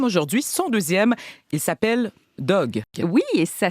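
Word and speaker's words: Dogue: Il s'appelle Dog. Oui, et ça s'écrit D-O-G-U-E.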